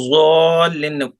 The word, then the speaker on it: الضالين: مغضوب عليهم ولا الضالين इसको ज़ालिन बोलेंगे वला ज़ालिन ولا वला الضال ولا ज़ालिन الضال ولا ज़ा الضالين ज़ा की आवाज नहीं आना चाहिए वला यानी गोल आवाज नहीं होना चाहिए वला ولا الضال ज़ालिन